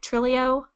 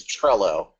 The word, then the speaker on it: Trello: Planner um it's kind of Microsoft's version of am I saying it right? Trilio I think it's Trello. Trello.